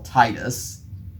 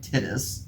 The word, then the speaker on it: Titus: to his character General Titus um be careful not to mispronounce it because it'll sound like tittis MH or Titus from